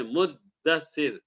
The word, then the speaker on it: مدثر: ملتا جلتا لفظ ہے، لیکن جو صحیح تلفظ ہے، صحیح پروننسیشن ہے، وہ ہے مدثر، دال پر آپ تشدید پڑھیں۔ بہرحال یہ آیت نازل